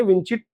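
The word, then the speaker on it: vici: वी आई सी आई विची बोलते हैं इसको वेनी विडी विची आई आई केम आई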